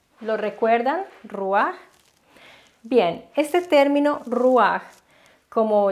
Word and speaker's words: ruach: término el término es ruar se escribe se pronuncia lo recuerdan ruar bien Este término reward como ya habíamos visto